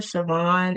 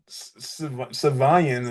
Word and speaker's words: Siovan: I ain't been putting no sh That's like sh. I've been saying like Savian or something.